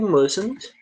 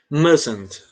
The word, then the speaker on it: mustn't: É tanto que esse T, ele some da pronúncia. Eu falo mustn't, como se fosse um A bem aqui, ó. Mustn't. Esse T some da pronúncia, tá?